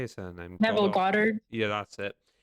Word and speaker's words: Goddard: Goddard. Yeah, that's it. Goddard.